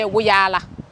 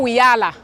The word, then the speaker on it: Wiyala: It's Wiyala, but just say Wiyala. It's not Wiyala. It sounds like Rihanna, which is amazing, but it's, yes.